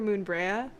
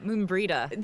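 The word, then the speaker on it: Moenbryda: played the game but I knew you were Moon Brea ah Moon breida thank you moon breida in in Final Fantasy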